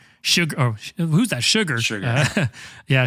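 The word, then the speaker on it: Chigurh: This is obviously an extreme because Sjogren, how do you pronounce it? Sugar.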